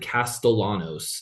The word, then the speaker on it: Castellanos: They lost Thomas Castanos or C I think they pronounce it Castellanos and like don't do the Hispanic thing with the L.